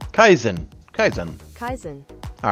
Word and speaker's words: Kaizen: for me and now we're going to actually pronounce k a i Zen Kaizen Kaizen Kaizen kaisen all right so Kaizen is a